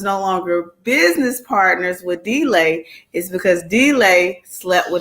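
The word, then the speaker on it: D'LAI: the story okay so billy and d uh delay is how you say his name they were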